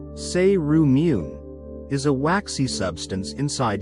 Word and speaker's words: cerumen: Earwax, also known as cerumen, pronounced say-roo-meen, is a waxy substance inside your ears.